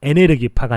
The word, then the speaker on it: 에네르기파: 드래곤볼이라고 하는 건데 거기에 보면은 에네르기파가 나와요. 저게 에너지파의 일본식 발음입니다. 에네르기파.